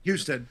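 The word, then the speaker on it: Husted: But then also, uh, Senator Huststead in uh, in Ohio. I always do I pronounce it. What's the connect? correct pronunciation. Yeah, you're right. Houston.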